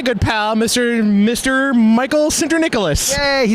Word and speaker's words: Sinterniklaas: Michael syndra Nicholas he said it right so it's true he